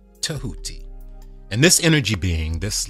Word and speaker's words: Tehuti: some people spell at teh you TI and pronounce it Tehuti Tehuti and this energy being this life force played